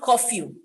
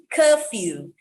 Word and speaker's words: curfew: there almost wrapping up curfew curfew not coffee curfew fuel feel fuel fuel